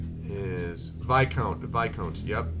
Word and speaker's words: Viscount: the name the name wrong a Viscount is pronounced VI count it's v-i-s-c-o-u-n-t but I pronounced advice discount now